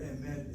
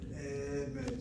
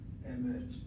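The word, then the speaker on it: אמת: And a good example is the word emet. Notice how the word emet, the word for truth, is spelled. Under the aleph is a chataf segol. The word emet is not a seglet noun. It's not emet, two segols. It is one chataf segol and the other one is a segol, emet.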